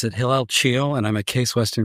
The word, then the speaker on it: Hillel Chiel: Well, I pronounce it Hillel Chiel, and I'm at Case Western Reserve University.